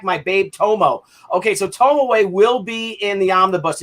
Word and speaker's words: Tomoe: Tomoe? Yeah, Tomoe.